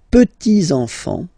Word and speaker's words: petits-enfants: Okay, so les petits enfants, make this liaison here.